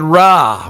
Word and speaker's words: Ra: shu the sun god ra or ray rah it's ra is said to have traveled through the sky across the body of nut enlivening the world with his light and at night ra passes between the western